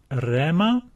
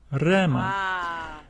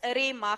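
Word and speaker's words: ῥῆμα: right saying uh the breathing Mark above the letter rho is silent so we read this word as Rema Rhema and uh if two okay you know what is happening here um if you read it as arima how it is Rima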